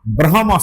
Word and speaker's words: ব্রহ্মা: সবচাইতে সংক্ষিপ্ত সেটাতে এইরকমভাবে বলা হয় যে আ ব্রহমা স্তম্ভ পর্যন্ত জগত তৃপতিত আ ব্রহম এই ব্রহমটা